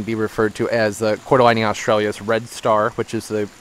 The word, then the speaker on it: Cordyline australis: So, that's how I double check whether or not I'm pronouncing things right. And as they said, Cordyline Australis.